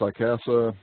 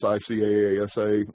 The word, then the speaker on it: ICASA: And this acronym is usually pronounced ICASA, but it's ICAASA.